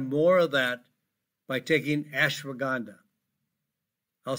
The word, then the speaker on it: ashwagandha: And you can have more of that by taking ashwagandha. I'll spell it for you.